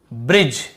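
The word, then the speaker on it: bridge: तो देखिए बाइक, type, name, shine, change, ब्रिज, यहाँ पर भी देखिए डी भी साइलेंट है और ई भी साइलेंट है, दोनों आ गया ब्रिज वाले में।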